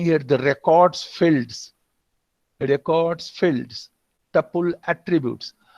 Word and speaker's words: attribute: Here, we are telling here the records fields, tuple attributes. As a noun, attribute is pronounced with emphasis on the first syllable as opposed to attribute. Attribute, which is a verb.